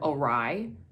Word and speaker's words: awry: I came to learn that this whole time I have been mispronouncing the word awry.